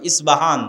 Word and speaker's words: ইস্পাহান: আজও ইরানের মধ্যে ইস্পাহান নামে সেই নগরী আছে। আমরা প উচ্চারণ করি ইস্পাহান, আরবিতে এটা উচ্চারণ হয় না। আরবিতে হয় আল আসবাহানি, বা উচ্চারণ হয় ইসবাহান বা আসবাহানি।